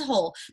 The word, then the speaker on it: whole: at home so whole the word is whole that w is silent okay so this is